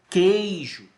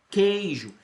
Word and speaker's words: queijo: digo com ei ju tá eu digo que queijo queijo do nesse caso que u é dígrafo você